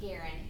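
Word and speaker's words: Guerin: K it's K what K Garen gu u e r i n it's definitely not phonetic so it's good to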